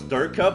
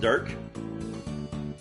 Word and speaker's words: Dirk: And I thought his name was Durka, but actually it's pronounced Dirk.